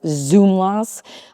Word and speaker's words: Szumlas: So I've gone with SH, but some people say it's SZ, like a hard Z, like Szumlas. I've always kind of said Szumlas, but I don't know.